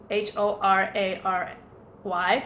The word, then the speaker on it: horary: orrery chart or re hor AR y sometimes pronounced horary comes from hora latin meaning time or hour so it's a chart